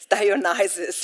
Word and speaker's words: Dionysus: Okay, so we will go also a bit deeper about what does Dionysus, I always say Dionysus with my Italian accent, but I think Dionysus is the actual pronunciation.